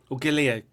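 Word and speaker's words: Galea: say is it Jason galia galia galia I do apologize someone once told me to pronounce it like the melon and I thought what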